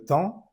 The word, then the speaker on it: temps: Combien de temps, EM, está en la misma sílaba, la pronunciamos como en las de verde. Temps.